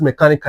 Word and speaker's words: mechanical: You must feel that stress. Mechanical, mechanical chanical That C is there. That So, 1 2 3. The stress is here. 1 2 3. The stress is here. So, whenever a word ends with um all these things I just mentioned the stress is at the third syllable coming from the back.